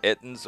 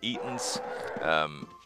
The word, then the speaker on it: Ettin: These are Ettins, or I call them Eatons. It's just, when I was a kid, I think I mispronounced them, and it just kind of stuck with me.